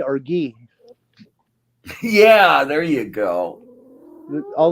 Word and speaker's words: Guy: do you pronounce it guy or ghee yeah there you go all the all the French people I know it's pronounced ghee and I can't believe